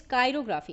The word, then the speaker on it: chirography: Okay, the first one related to chair और चिरो इज कायरोग्राफी. इस word में कायरो हम प्रोनाउंस करते हैं इसको, ठीक है.